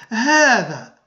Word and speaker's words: هذا: فمثلا هذا، نقول اسمعوا جيدا، هذا، هذه، هذان، هؤلاء. فنسمع ألفا بعد الهاء، إذن تنطق الهاء بالمد هاء ولا تكتب الألف.